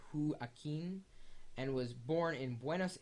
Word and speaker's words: Joaquin: the key who Ain it looks like Wen but he says hu Ain and was born in